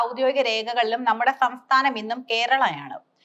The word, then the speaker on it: കേരളം: നൂറ്റാണ്ടുകളായി മലയാള സാഹിത്യത്തിൽ ഈ നാട് കേരളം എന്ന് തന്നെയാണ് അറിയപ്പെടുന്നത്. പിന്നീട് എങ്ങനെയാണ് കേരളം കേരളയായത്. ഇതിനു പ്രധാന കാരണം കൊളോണിയൽ അധിനിവേശമാണ്. ഇംഗ്ലീഷുകാർക്ക് മലയാളത്തിലെ അം എന്ന ഉച്ചാരണം വഴങ്ങാത്തതിനാൽ അവർ തങ്ങളുടെ സൗകര്യത്തിനായി പേരിന്റെ അവസാനത്തെ അനുസ്വരം മാറ്റിയതാകാം. ട്രിവാൻഡ്രം തൃച്ചൂർ കാലിക്കറ്റ് തുടങ്ങിയ പേരുകൾ രൂപപ്പെട്ടതും ഇത്തരത്തിലാണ്.